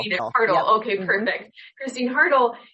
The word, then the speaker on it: Haertl: Haertl. Haertl.